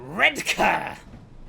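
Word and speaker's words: Redcar: Okay, we're approaching red car, which is apparently how you say this.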